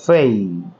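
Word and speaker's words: pay: পি এ ওয়াই এটাকে আমরা সাধারণত পে বলে থাকি, কিন্তু এর সঠিক উচ্চারণ হচ্ছে ফেই, কারণ পি কে ফি বলতে হবে, ফেই।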